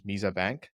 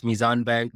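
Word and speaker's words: Meezan Bank: I'd just like to correct your pronunciation of those names. That's Mizan Bank, Dawai, Crave Mart, Genie AI, and yeah.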